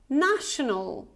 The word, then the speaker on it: national: National. National. Right, national. The next one. How do you pronounce this one?